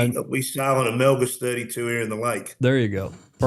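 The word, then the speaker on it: Melges: It's Melgus. And we we sail on a Melgus 32 here in the lake.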